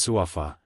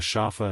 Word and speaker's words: Safa: The female assassin angrily said, "Safa should be pronounced as Suafa. In our desert kingdom, it has a quiet, clear, and pure meaning, so many girls are named like this. How did it become a Shafa in your mouth?"